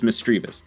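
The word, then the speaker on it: Misdreavus: sorry energy lotto we got over quill sneezel mistrevus mistrevious mistrivas mistrivas it's mistreavus barboche pontiard oh i can already see we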